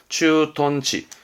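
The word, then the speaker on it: 駐屯地: 발음은 추톤치입니다. 추톤. 추톤치.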